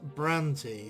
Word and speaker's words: Brante: and suffering of and they the developers themselves um pronounce it as brandy sir brandy however with my um crazy english accent i'd probably prefer to pronounce it bran tay or even brandt with a silent e but i will just